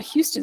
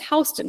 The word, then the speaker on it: Houston: things, it would give you directions that accurately pronounced local streets. So in New York City, it's not Houston Street, it's Hston Street.